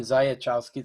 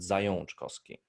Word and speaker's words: Zajączkowski: because this this second A is our dialect A with this Ah, like with the tail under the A, which is pronounced on, and that's ah. why you pronounce it Zajączkowski.